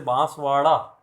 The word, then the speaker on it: बांसवाड़ा: ड़ मतलब जैसे बांसवाड़ा, अब बांसवाड़ा में से अगर ड़ में से बिंदी हटा दोगे तो क्या बन जाएगा? बांसवाड़ा। तो अपन बांसवाड़ा में नहीं रहते, अपन बांसवाड़ा में रहते हैं। स्पेलिंग भी देखोगे तो RA आएगी, डी नहीं आएगा, BANSWADA नहीं होगा, वो होगा BANSWRA। RA क्यों होगा? क्योंकि ये ड है, सॉरी ये ड़ है, ड नहीं है, ड होता तो डी